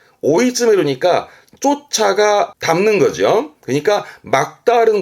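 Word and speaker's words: 追い詰める: 앞에가 추자 추격인데 발음은 오이즈메르 오이즈메르니까 쫓아가 담는 거죠.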